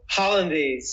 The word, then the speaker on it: Hollandaise: how-lee-ann-days. How do you pronounce it? Billy: Hollandaise. Hollandaise.